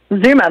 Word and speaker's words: Zuma: Okay, the next character is Zuma. Is that how you say it? Zuma, that's right, like the beach.